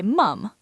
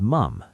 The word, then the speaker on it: mum: British people think Americans sound funny when they say mom. British say mum. Mom versus mum. Just a vowel difference. But it's very distinctive.